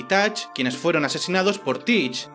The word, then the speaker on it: Teach: llamaban Barba Negra, y su nombre real era Edward Teach, y se pronunciaba Edward Touch.